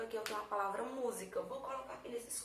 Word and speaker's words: música: Ó, música, tá vendo? Música. Então a sílaba tônica é a antepenúltima, e eu teria um exemplo de proparoxítona.